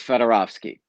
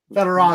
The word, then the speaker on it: Fedorovsky: It's Fedorovsky. Fedorovsky. Very simple, almost like Smith.